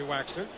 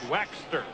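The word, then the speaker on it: Waechter: for him up until this morning there's Henry waxer don't think we're crazy in the way we pronounce it that's the way he wants us to say it waxer look like it was WX t r how's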